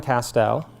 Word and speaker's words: Castel: my name is Castel and it rhymes with past Oh in fact my grandfather was a painter who used pastels so now you can